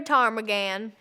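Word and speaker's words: Ptarmagan: My name is Tarmagan. The P is silent.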